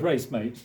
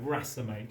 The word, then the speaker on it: racemate: Okay, which looks like racemate, yeah. Guy who helps you in your race, but no, racemate as in racemic.